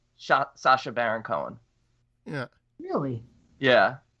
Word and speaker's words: Sacha: celebrity names whose pronunciation is exactly always it's pronounced exactly like that sasha yeah yeah okay i've never heard somebody say